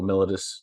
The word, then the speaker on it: mellitus: today I'm focus on diabetes malius or melodus depending on how you like to pronounce it so I always